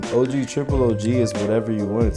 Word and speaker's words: OGtripleOG: OGtripleOG, the name itself, it stands for it stands for original gangster gaming, and the last G is silent because the real G is moving silence.